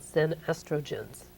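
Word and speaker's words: xenoestrogens: now you in the book you talk about zen estrogens did i pronounce it right you pronounce it very well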